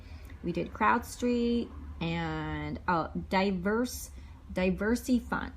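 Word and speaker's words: DiversyFund: We did CrowdStreet and diverse Diversey Fund. So it's spelled Diversy Fund, and it's not for diverse people. It's just called Diversey Fund, and it's pretty new crowdfunding, and they offer good rates and returns.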